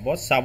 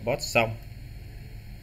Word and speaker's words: Poisson: Thì cái chữ này mình đọc theo tiếng Việt là Poisson nha các. Đọc là Poisson.